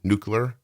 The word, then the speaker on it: nuclear: Like you're supposed to kind of like mumble through the U, nuclear. Is that like how it's said?